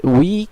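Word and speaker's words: huit: এর উচ্চারণটি হবে ওনস, যেটি নাক থেকে আসতে হবে, এবং এটির উচ্চারণ হবে উই, অথবা যেভাবে আমরা ইংলিশে উই বলি সেইভাবে।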